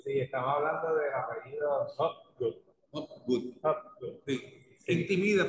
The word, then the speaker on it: Hopgood: Y la gente cree que como es húngaro, ruso, alemán, le ascriben muchas nacionalidades y es simplemente inglés, dos palabras sencillas en inglés.